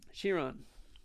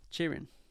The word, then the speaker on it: Chiron: I will say science Chiron Sheron Chiron however you want to pronounce it it's I think it's technically Chiron uh so or self